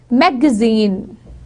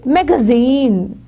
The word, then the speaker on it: magazine: In American English, the word would be magazine, magazine. In British, it would be magazine, magazine.